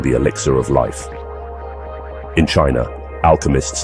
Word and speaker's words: qi: In the heart of ancient China, a different approach to longevity emerged.